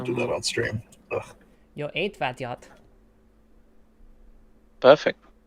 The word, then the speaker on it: Jó étvágyat: Jó étvágyat. Perfect. Jó étvágyat. Again, it's just the emphasis is weird. Yeah. Jó étvágyat. Jó étvágyat. But the pronunciation is like almost pitch perfect.